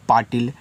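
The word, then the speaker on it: Patil: पी ए टी आई एल, इसको पढ़ते हैं पाटिल। तो देखो पी से पा, ए से आ का मात्रा, तो यहाँ टी से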